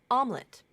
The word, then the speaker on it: omelette: average not average average omelette not omlet omelet that's the most common native like pronunciation basically basically or basically